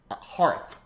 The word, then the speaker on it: hearth: I always pronounce it hearth because it looks like, I know it looks like heart with an H at the end, but it also looks like earth with an H at the beginning, and we don't call it planet Earth.